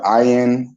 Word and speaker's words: ayin: The so-called ayin would be ra when it's at the beginning of a word. When it's not at the beginning of a word, it's the so-called long I sound.